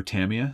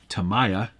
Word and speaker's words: Tamiya: okay I won't um the Tamiya pronunciation can go a lot of different ways I prefer Tamiya some people say Tamiya other people say Tamaya whatever Josh says is